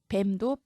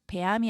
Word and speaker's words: 뱀: 뱀도 배암이 아니라 뱀. 방언에서는 배암이라고 말하시는 분들도 계시죠? 표준어를 기준으로 보면 뱀이 맞습니다.